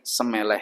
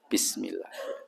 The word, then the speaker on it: bismillah: Tapi wong jawo saya pernah lihat mbok debokde itu naik bis itu bacanya semeleh kan. Semeleh kok bacane semeleh. Suruh mengatakan samilah itu bukan ngomong samilah tapi bismillah.